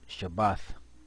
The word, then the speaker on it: Shabbat: what you see here is Shabbat and that's how you pronounce it is a day of